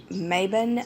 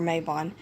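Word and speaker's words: Mabon: I read salan I've read Maybin and I've read or may bond however you want to pronounce it I say the autumn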